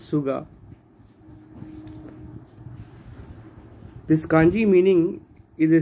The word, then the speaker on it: 菅: And kunyomi, the Japanese pronunciation is Suge. But when used in names, it can be pronounced as Suga.